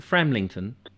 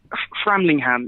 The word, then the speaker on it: Framlingham: my list frat what how do you pronounce it framlington framlingham yeah trembling ham yeah the castle there and